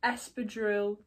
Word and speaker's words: espadrille: But I thought I've got this to pair with a few of the items that we've got, which is some wrap up espadrille.